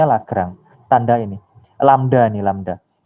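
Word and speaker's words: Lagrange: adalah 2x + 2y plus dari lagrang ini bacanya lagrang tanda ini lambda ini lambda kita bacanya lambda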